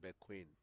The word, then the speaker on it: Bekoe: So somebody was telling me a name like Bequin. Mm-hmm. Bequin. It is spelled Bekoe, You know, but it's pronounced Bequin.